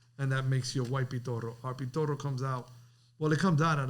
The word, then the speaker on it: Pitorro: Look how you say the name, Pitorro. Yeah, I ain't heard one person come on here and say it like that yet. Yeah, because he's Spanish. Pitorro.